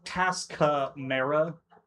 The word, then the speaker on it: Tascamera: It's TAS and then the word camera, basically. Camera. But it's Tascamera, is its pronouncing Tascamera.